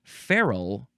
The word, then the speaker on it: ferrule: It is ferrule, but it is spelled Ferrule.